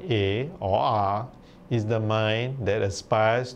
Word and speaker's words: A: Buddha are expressed in the letter A, which is pronounced R.